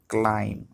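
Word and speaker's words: climb: পরিষ্কার করা clean clean ক্লাইম্ব আরোহণ করা মানে কোথাও ওঠা হতে পারে সেটা গাছ পাহাড় বা যেকোনো কিছু উপরের দিকে ওঠাকে আমরা ক্লাইম্ব বলি beta silent ক্লাইম্বড ক্লাইম্বড delay শব্দের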